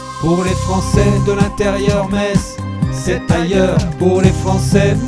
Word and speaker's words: Metz: test chez nous on dit Metz et pas Metz c'est pour éviter tout ambiguïté avec les tons d'à côté d'ailleurs par ici on se demande pourquoi les Français ont cette manie de toujours le prononcer à l'allemande ça doit être ça